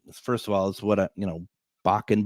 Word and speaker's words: Bakun: And so bacon, obviously, first of all, is what, Bakun being my last name, it's pronounced bacon accidentally quite a bit.